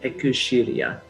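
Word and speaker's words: Xillia: of shelia and like pronouncing like japanese is like ekushiriya so last time i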